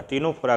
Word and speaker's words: Ctenophora: टीनोफोरा की spelling है CTENO, CTENOPHORA, संघ टीनोफोरा।